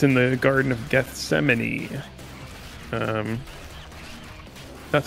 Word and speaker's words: Gethsemane: before and uh it's in the Garden of Gethsemane um that's how I've always heard it pronounced I don't know if other people pronounce